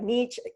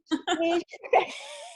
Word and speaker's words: niche: Now I want to say it like niche. I'm so sorry. Niche.